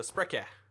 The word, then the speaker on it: Sprecher: You're supposed to say the E after Sprek. So Sprecher.